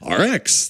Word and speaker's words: Rx: talking about father like how do we pronounce rx like our X there we go okay so the Strange Case of dr.